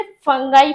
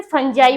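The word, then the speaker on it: fungi: ठीक, और सबसे इंपॉर्टेंट बात, बच्चे अक्सर इसे गलत प्रोनाउंसिएट करते हैं, इसे फंगाई फंगाई पढ़ते हैं, नहीं इसे फंजाई बोलते हैं, और हम लोग इसे फंगस भी बोल सकते हैं।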